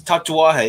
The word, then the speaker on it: Tatuaje: Tatouage. I don't know if it's. That was almost perfect. It's Tatuaje, yeah.